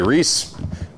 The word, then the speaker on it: Rice: you're going to see Rice Davis heads. And depending on what country you're from, or what part of what county you're from, maybe you say Reese, maybe you say Rice. Doesn't really matter, but it's spelled like this